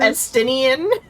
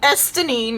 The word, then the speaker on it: Estinian: Instead of Estinian? Yeah. Estinine.